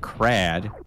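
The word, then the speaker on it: Kraid: With $10 says, in the first game, there was a fake crad. Crade? Crade. That's how you say it.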